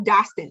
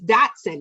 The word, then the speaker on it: Dotson: say your name wrong i keep calling you dawson it's dotson right that's him johnson siobhan